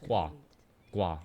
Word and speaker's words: Guagua: greatly greatly appreciated less subhype ones there it's pronounced wah-wah okay quad the sounds that frogs make well